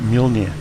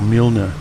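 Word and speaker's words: Mjölnir: rest of their story they tend to pronounce the name of mjolnir mjolnir and the norwegians tend to pronounce it mjolnir or milner it's some very different it's one of the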